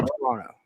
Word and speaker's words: Toronto: ah pretty close closer you don't pronounce the second T you can say Toronto Toronto Toronto Toronto Toronto